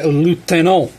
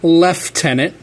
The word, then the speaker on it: lieutenant: next I have my lieutenant my lieutenant yes British people it's not left tenant I mean hell it it's a French word that is pronounced lieuten there's no F we are closer to